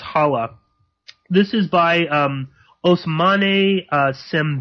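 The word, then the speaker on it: Xala: which is a language spoken in Senegal it's pronounced hawa this is by Osmani sim bene I'm sure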